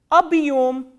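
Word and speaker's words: объём: The first word I am going to tell you is abhyom, abhyom, abhyom.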